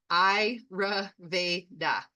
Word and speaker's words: Ayurveda: So the ayurveda so that's exactly sometimes you look at the word and it's like how do you pronounce that Iraveda that's the pronunciation and the definition is it's